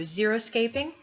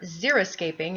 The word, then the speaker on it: xeriscaping: that we see to xeroscaping or xeriscaping as i discovered i had been incorrectly pronouncing it and there are other